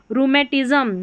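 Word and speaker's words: rheumatism: रूमेटिज्म। रूमेटिज्म। यहां पर हिंदी में उच्चारण दे रखा है। इसको देखकर पढ़ें। आर एच को र पढ़ा जाता है।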